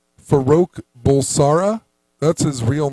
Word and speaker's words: Farouk Bulsara: His real name is actually, I can't even pronounce it. It's like Faroka. Here we go. Farouk Bulsara.